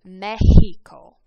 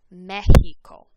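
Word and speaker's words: México: like an s but any other time it makes an h sound like an english h sound for example the country mexico mexico is how we say it in english but in spanish it's mexico mexico now the letter y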